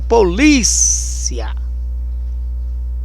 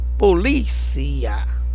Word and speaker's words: polícia: Policia, diferente do português que a gente chama polícia. Polícia é no li, né?